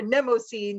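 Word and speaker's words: Mnemosyne: name is nemocene so i don't care how you say it if you say it namaste or nemo scene but that's the that's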